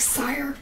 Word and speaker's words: Sire: It's like Sire, rhymes with fire.